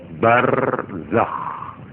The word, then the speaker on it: Barzakh: Barzakh itu ejaannya ya. Barzakh, Z, Zai, Kho, harus ngorok. Nek moco ngorok. Barzakh, nah, harus begitu supaya kelihatan Kho. Nggak boleh barzakh. Kalau barzakh itu hak.